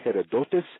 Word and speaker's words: Herodotus: We call him also the father of lies, Herodotus. My Hakim always pronounced it Herodotos, and called him a journalist, not a scientist, not a researcher, a journalist.